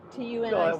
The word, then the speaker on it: Tunica: I is pronounced E in Spanish. But Tunica, tunic.